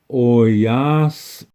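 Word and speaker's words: oyás'iŋ: this is indicating that there is a small space yeah like a nanosecond of Silence between that s and the I I'll say this word for you very slowly oyas um this is the correct way to say that on the internet and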